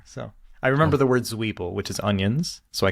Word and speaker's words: Zwiebel: So I remember the word Zwiebel, which is onions, so I can avoid that on menus. That's the big thing. So. What's how do you say onions? Zwiebel.